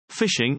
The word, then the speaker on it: phishing: a definition from Microsoft phishing pronounced fishing is an attack that